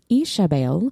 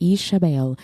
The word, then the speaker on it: Ishabel: We have a new character, Ishabel, and that is how you pronounce it. Our word nerd shared a pronunciation guide, Ishabel.